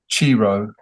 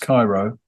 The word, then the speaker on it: Chiro: I think the Oh first, yes, and in fact, sorry, um, there's a track called Chiro, yeah, yeah. which should apparently we found this out afterwards should be pronounced Cairo.